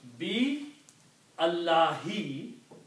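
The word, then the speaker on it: بالله: When you read together, you do not pronounce this alif. And so you combine B with Allah, so this alif will change into a hamzatul wasl with a little swad on it.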